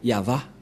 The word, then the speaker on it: Yahvah: suite c'est cette partie et ça se dit yava voilà donc l'écriture a attendez on a fait